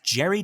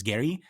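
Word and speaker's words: Geri: which I always thought it was Gary, but everyone that I'm listening to is pronouncing it Jerry, which I really like.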